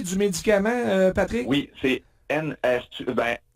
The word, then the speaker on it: Enhertu: Oui, c'est Enhertu. E-N-H-E-R-T-U. Donc, je sais pas, je le prononce comme il faut.